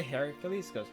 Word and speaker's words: Heracles: Hercules Hercules like Rome there's a wrong pronunciation that I've been taught to use that my entire life so he's kind of weird but I'm gonna say Heracles yeah I want to